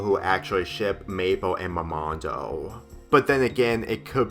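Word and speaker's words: Mermando: a moment's life and I know I mispronounced momando instead of momondo but then again considering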